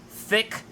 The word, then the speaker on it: THICC: name of the G it's called the thick - and it's spelled th ICC this is an article from